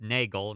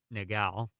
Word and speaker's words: Nagel: attitudes and i apologize i believe it's pronounced nagel not negal malman dear and nagel's